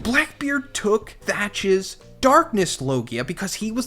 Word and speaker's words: Teach: known as Blackbeard and he was called Edward Teach and pronounced Edward thatch Oda manipulated his name